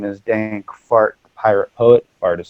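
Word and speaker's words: Phart: My name is Dank Fart, the Pirate Poet. Fart is spelled P-H-A-R-T, is an acronym for Pretty Hot and Reasonably Talented.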